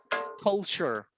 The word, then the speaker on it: culture: this is for pronunciation every time that you have the ending t-u-r-e this one we graduate to tour right we we might pronounce like tour but in reality you pronounce like a show like sure sure sure sure example